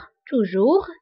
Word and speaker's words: toujours: وانتبهوا بالنسبة لتوجور و jamais فكنكتبوهم بأس آخر الكلمة ولكنها لا تنطق. toujours jamais.